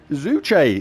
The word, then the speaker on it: Zuche: Zuche is how I've been informed it's pronounced by Genki, but I'm never going to remember that because this looks more like Zook.